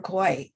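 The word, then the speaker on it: Kwai: uh bridge on river koi yeah bridge on river kuwait they say koi kw a.i is pronounced anyway he went on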